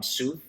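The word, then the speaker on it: Sothr: My favorite is called um Suf. It's spelled S O T H R.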